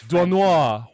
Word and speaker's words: Doisneau: How do you pronounce that, Peter? I think it's Robert Duanois. It's Duanois.